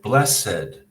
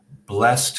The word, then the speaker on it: blessed: It has two syllables, blessed. But if we want to talk about that word in another context, we say the father blessed his son before the wedding. So blessed as an adjective has two syllables. As a verb in the past tense, the father blessed his son. It has a different pronunciation and only one syllable.